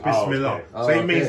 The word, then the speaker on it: Bismillah: No, it's Bismillah. Oh, okay. So it means in the name of Allah. Yeah, Bismillah means.